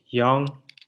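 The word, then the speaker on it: 영: And young. It's at the bottom again. So it's ng again. Young.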